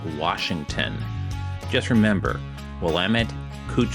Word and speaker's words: Washington: getting pedantic about pronunciation there is no R in Washington just remember well clet